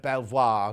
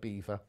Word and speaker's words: Belvoir: i'm on the bus i'd like to be like mrs bouquet and she would call it veil of belvoir not pert vale of beaver anyway let's get on